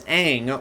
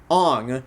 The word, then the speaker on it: Aang: Especially from Jackson Rathbone as Sokka, Nicola Peltz as Katara, and Noah Ringer as Aang, or as this movie says, Ong.